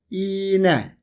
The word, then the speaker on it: iğne: For example, if you want to say "ağaç" (tree) in Turkish, you can pronounce it like this: AAÇ If you want to say "iğne" (needle), you can say "iine".